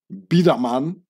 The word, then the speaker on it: Biedermann: you can see here bidaman so I pronounce it in the Swiss German way is a Swiss German